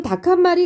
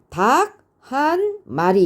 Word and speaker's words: 닭한마리: 말을 하지는 않죠 지금 닭한마리 같은 경우도 보시면 둘 이상의 단어가 있지만 얘네를 평소에 발음을 할 때는요 한마디로이어서 발음을 하죠 그렇기 때문에 닭 한 마리 이렇게 하는게 아니라 닭한마리 이렇게 소리가나요 얘도요 거센 소리가 먼저